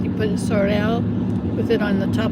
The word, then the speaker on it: Sorel: Sorel. Like you put your tongue on top instead of Sorel with the tongue on your bottom of your mouth. You put Sorel with it on the top of your mouth.